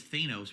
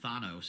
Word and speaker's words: Thanos: d back then I thought his name was Thanos apparently it's pronounced Thanos and now we all know that but we